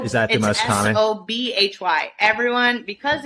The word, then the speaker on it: Sobhy: Sobhy. Everyone, because it's pronounced Sobhy in English, like in Arabic it's Sobhy.